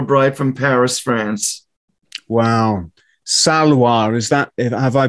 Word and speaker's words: Salois: Salois, is that, have I pronounced it correctly? Yes, Salois.